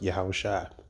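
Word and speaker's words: יהושע: Well, the comparison is that Joshua and in the Hebrew is pronounced Yahushua.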